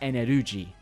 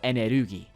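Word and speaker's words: エネルギー: to be confused with the word energy from Japan, which is pronounced eneruji, or enerugi.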